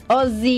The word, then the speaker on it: Aussie: Ozzy oh sorry oz how r 2 s's pronounce zi Ozzy Ozzy Ozzy's just how it's pronounced o sea